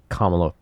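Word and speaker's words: Kamala: I'm going to call her until she gets kamla Harris right anyway what else we got we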